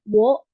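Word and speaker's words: を: Nah, yang o yang ini bukan o yang a u e o tapi yang wo. Tapi kalau di partikel ini jadi dibacanya o dan o itu wo atau o partikel o ini cuma dipakai untuk menulis partikel aja ya.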